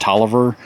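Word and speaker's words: Taliaferro: later in life and talia farrell pronounced toliver um that's one of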